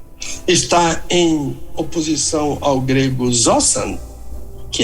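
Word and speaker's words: ζῶσαν: não é só novo caminho é vivo zosan zosan zosan é a pronúncia correta do verbo Z Ah vivo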